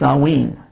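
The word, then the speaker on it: Samhain: Halloween is still known as the vigil of sanwin or s-a-m-h-i-n pronounced salween the Pagan priesthood of The Druids in Ireland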